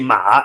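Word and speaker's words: 马: Ma with it's called a third tone, with a tone that goes down and then comes up, is horse.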